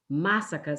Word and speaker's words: masaka: brother macia that said masaka sounds like massacre and it's like when